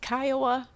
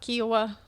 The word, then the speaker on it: Kiowa: And it is Kiowa, not Kiowa.